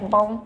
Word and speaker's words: Baum: A lot of dialects or Dutch, they kind of swallow some of the vowels sometimes, like it's baum, baum. But in German, you pronounce every letter. Baum, baum.